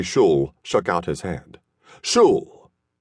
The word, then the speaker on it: Schul: "Schul rhymes with no bull."